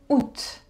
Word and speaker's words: août: Août.